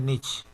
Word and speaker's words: Nietzsche: Se escribe Nietzsche y se lee Nietzsche.